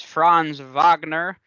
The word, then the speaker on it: Franz Wagner: player of interest is franz wagner who was a saw that yes that is how you say it he's german and i learned that